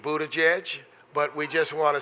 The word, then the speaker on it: Buttigieg: a Democratic presidential hopeful I have been practicing the pronunciation of his name it speak Budaj edge but we just want